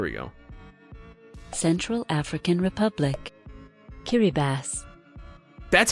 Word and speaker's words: Kiribati: Kiribati. That's how this is pronounced?